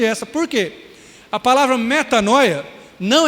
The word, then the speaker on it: metanoia: contar para você também essa palavra que é metanoia né ou metania mas se escreve metanoia a palavra ali tem